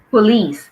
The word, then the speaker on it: police: of police finish this police so the stress is on the second syllable police okay police good okay